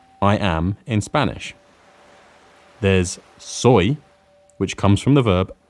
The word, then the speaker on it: soy: am in Spanish there's soy which comes from the verb s soy it's pronounced and spelled just like soy from soybeans the second way we